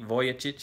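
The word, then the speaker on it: Vujicic: maybe his name uh when I say Nick voic his last name is spelled vuj i c i see and uh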